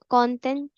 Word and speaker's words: content: ई एन को हमेशा तो प्रोनाउंस करेंगे ओ।